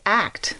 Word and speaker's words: ACT: i'm gonna first say it's act which is kind of cool in that act is pronounced as one word and it there's a